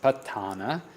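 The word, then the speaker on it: Paṭṭhāna: the patana is a the proper pronunciation is patana uh and this is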